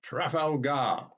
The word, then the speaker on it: Trafalgar: understand, for instance, that the Spanish pronounced Nelson's victory with the stress on the last syllable, Trafalgar.